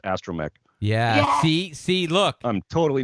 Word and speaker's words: astromech: it is but i don't know how to pronounce it it's the estromatic george oh i was gonna yep i was